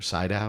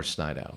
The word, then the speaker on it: Sydow: Sydow or Snydow? Sydow. Max von Sydow. You're trying to think how it's spelled, aren't you?